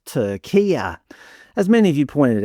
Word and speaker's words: Türkiye: Depending on how woke the media organisation you watched was, the commentators switched between calling the country Turkey, Türkiye, and a meticulously pronounced Tur-KEE-ah.